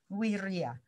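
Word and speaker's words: vīrya: Kalau kita lihat dalam bahasa Pali dekat dengan Sanskerta ya, itu semangat itu terjemahnya adalah wirya, bacanya V itu W gitu ya, wirya.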